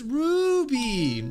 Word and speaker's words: Ruby: say my name right it's Ruby you've gotta say it with Rue I I'm sorry but